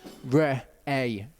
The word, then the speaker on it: Re'eh: of the word you've got an aleph that takes on the sound of the vowel which is an a sound and then you've got a hay at the end which is pretty much a silent letter in this so it's re a is how you say that and what struck